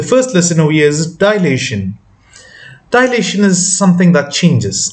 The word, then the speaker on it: dilation: the scale factors of dilations um you can pronounce it as delation as well or generally it's dilation now scale factor is